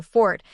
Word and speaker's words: forte: However, many pronunciation experts and dictionaries still argue that the one syllable fort is the more traditionally correct pronunciation when referring to a personal strength.